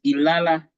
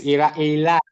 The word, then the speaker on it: Ilara: In the examples you gave us, Ilala Health, Ilala. Did I say it correctly? Ilala Health? Yes, Ilara.